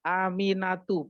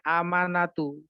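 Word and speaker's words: آمِنَةُ: Win saya bacakan aminatu jadi bacanya aminatu bukan amanatu ya aminatu Aminah cina bu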